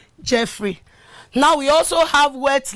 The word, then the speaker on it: Jeffrey: Jeffrey, if your name is Jeffrey and you've been pronouncing Jeffrey, I'm very sure you should know that it was wrongly pronounced from this thing before, but from now henceforth you should pronounce it as Jeffrey.